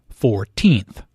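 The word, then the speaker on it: fourteenth: The stress is on the second syllable, 14th.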